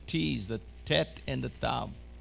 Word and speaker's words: tav: Say with me, tav. Tav. A tav is a T. A T. Hebrew has two T's. This is the, a tet. A tet. Hebrew has two T's, the tet and the tav.